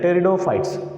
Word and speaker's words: pteridophytes: amphibian centauri next one pteridophyta p is silent here p is silent pteridophytes this is a first